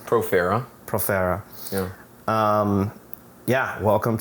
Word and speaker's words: Profera: Profera.